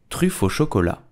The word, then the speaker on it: truffe au chocolat: English call it chocolate truffle, but how do you pronounce it in French? You will say truffe au chocolat, truffe au chocolat, truffe au chocolat, truffe au chocolat.